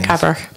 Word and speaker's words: Cabrach: You know, people at North Uist, I'm not that sure to pronounce the one that Ewan's just gone to, is it Cabrach? Yeah, Cabrach.